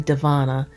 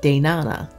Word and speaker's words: Devana: because my name, Devana, putting a V in a name is probably one of the cruelest things you can do to a child, because that's one of the hardest letters to pronounce. So when I was a child, I called myself Danana until I could learn to pronounce that V.